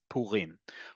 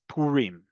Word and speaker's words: Purim: as a Resh, it's Purim. The emphasis in modern Hebrew, the default emphasis on modern Hebrew is always on the last syllable.